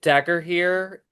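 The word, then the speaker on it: Dagorhir: I did dagger here. It's spelled d a g o r h i r. Dagger here.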